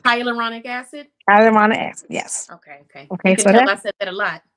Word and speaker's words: hyaluronic acid: And I think how do you say hyaluronic acid? Hyaluronic acid.